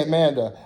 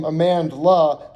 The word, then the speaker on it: Amandla: heard of a man an l at the end of amanda okay i keep wanting to say amanda i'm looking at the name amandla to make sure i spell it right or pronounce it correctly um let's see what